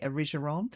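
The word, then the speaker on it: Erigeron: Number 6 is Origeron or Origeron. Some people say I just don't like the hard G myself, so I say Origeron.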